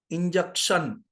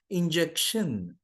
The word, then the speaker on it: injection: heard all all the nurses in my city pronounce it injection injection whenever we find the word ending with